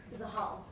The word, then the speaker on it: Zahal: My name's Stephanie Zahal. How do I say your last name? Zahal. How do you spell it?